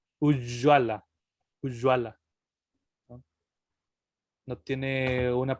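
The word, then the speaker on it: ujjvala: Se pronuncia exactamente igual que como la doble L. Ujjwala.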